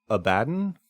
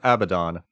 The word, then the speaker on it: Abaddon: If you choose to say Abaddon or Abaddon, both are correct.